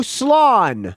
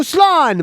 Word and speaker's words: slán: I'll do an Irish one for you, but phonetically, because the Irish spelling ain't going to help you pronounce it. It says, so slán, my friend. So slán, my friend.